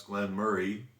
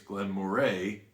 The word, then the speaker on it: Glen Moray: Another would be Glen Murray, which I pronounce Glen Murray. And I've had people say, I've never heard it pronounced Glen Murray, it's Glen Moray. And I said, well, I've actually heard the distillery manager call it Glen Murray.